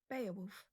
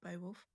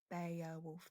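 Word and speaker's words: Beowulf: So this is pronounced Beaolf. Actually it's not Bowwolf.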